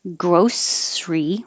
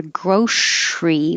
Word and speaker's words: grocery: to wander around this you have two options you can say grocery with an s or grocery with a sh but we will drop the middle syllable and not say grocery or grocery just make it shorter two syllables grocery grocery this one